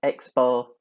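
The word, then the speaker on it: x̄: After that, you have what's pronounced as x bar, and that's simply the arithmetic mean of a sample.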